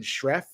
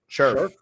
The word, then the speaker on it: Scherff: They also signed Brandon Scherff, who is the guard. Scherff. I pronounced it wrong.